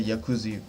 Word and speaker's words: Jacuzzi: like like a Jacuzzi I don't know how to say it some people say yakuzi but I guess since I'm in Germany I don't spell the J I just say why ye instead of J so you know Marco